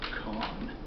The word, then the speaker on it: Kauhn: hello my name is hamster con that's spelled k a u h n I am